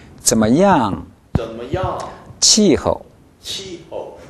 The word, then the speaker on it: 怎么样: 발음이 끝날 때까지 입을 닫지 않습니다. 怎么样? 怎么样?